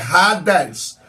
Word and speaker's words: Hades: inferno A primeira é AD no grego se pronuncia rades Então mas a gente fala no português H mas no Grego é Hades que significa as regiões Infernais inferno mundo inferior